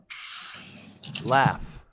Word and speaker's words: laugh: them into two groups sometimes when the letters g sound just like in the word cough laugh enough or enough direction now we don't